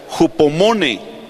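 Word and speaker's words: ὑπομονή: Mire, la paciencia viene de una palabra que se pronuncia hupomone.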